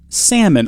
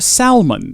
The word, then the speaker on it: salmon: hook and a roll salmon or Salman if you like to pronounce things the way that they are spelled for some strange reason okay take out a